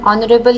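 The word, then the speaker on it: honourable: So kids, यहां पे जैसे आप देख सकते हैं, Yusuf is एन ऑनरेबल cities. ऑनरेबल के साथ एन क्यों लग रहा है? Because H is silent and ओ इज़ a vowel word.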